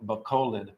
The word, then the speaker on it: Bacolod: I was wrong. People said Bacolod, and then I was corrected to Bacolod.